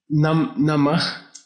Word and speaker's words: Namah: Namah. Namah. N-A-M-A-H. H at the end.